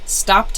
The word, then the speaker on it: stopped: Stopped has that T sound, this one here, T, stopped.